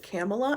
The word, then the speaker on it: Kamala: I actually know somebody with this name, but she pronounces it Kamala and goes by Cam.